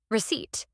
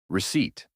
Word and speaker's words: receipt: The word of the day is receipt. Receipt, the small paper that shows what you paid. And remember the secret. The P is silent. Receipt. Can I have a receipt, please?